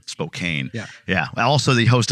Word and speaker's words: Spokane: uh he's out of Spokane Washington don't call it Spokane I don't know who the hell he gave me this warning before don't call it Spokane I'm like who calls it Spokane but we'll explore that